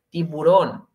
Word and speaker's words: tiburón: Recordemos acento en su última O, tiburón.